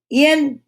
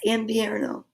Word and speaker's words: invierno: Es invierno. Es invierno. So the V is pronounced like a B. Es invierno.